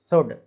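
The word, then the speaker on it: should: Next और देख लेते हैं हम, क्या लिखा हुआ है शुड, इसमें भी D के पहले क्या आ रहा है, L आ रहा है तो साइलेंट हो गया L। केवल पढ़ेंगे शुड।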